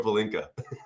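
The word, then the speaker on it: pálinka: Is it the other way to pronounce? No, is it palinka?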